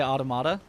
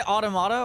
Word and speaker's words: Automata: The way Americans say automata. Well, so you can say automata or automata, right? You can and either is, yeah, very acceptable, but there was some